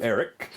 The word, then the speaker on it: Aeric: So you make your way to Eric, and that is, by the way, I'll spell it Aeric. I knew it was weird. Eric, the taxidermist, and when